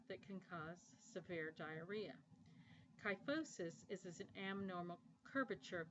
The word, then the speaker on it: kyphosis: can cause severe diarrhea kyphosis is an abnormal curvature of the spine you want to note that pH in kyphosis is pronounced with the F sound and finally quadriplegic means